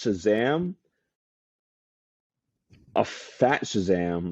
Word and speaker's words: Shazam: So he purposely mispronounces Shazam. So he says like Shablam, Kazam, and then Black Adam gets so annoyed with him. He's like, "No, you idiot! It's Shazam!"